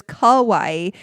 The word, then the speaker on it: kawaii: I was trying to say your coffee shop is cute, which is kawaii. Scary is kowai. So, pronunciation matters.